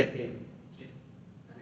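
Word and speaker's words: ἐν: No, se dice en dice, así es, son la letra y la letra que suena suena igual, suena n y tiene más o menos la misma función que que en español.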